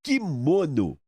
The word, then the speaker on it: quimono: Todo mundo chama de quimono quimono mas é kimono ou kimono não é kimono Ah entendi a sílaba forte é a penúltima não tem aquele acento